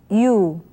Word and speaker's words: 유: How 선생님 pronounces it 유 유 you That's right this letter is pronounced as you now what about some